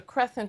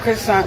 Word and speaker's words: croissant: a c but he's telling her it's a crescent because he probably saw it written somewhere and